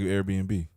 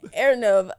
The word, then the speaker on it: Airbnb: AirNub. AirNub. I didn't know it was B&B. That's so stupid. Airbnb, yeah.